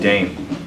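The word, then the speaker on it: Daim: I like, one of my favorite graffiti artists is Marca 27, somebody who I actually know, and another guy named Dame. His name is spelled D-A-I-M.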